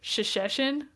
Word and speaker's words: Shesheshen: I Her name is Shasheshin. Okay. But it's spelled s h e s h e s h e n.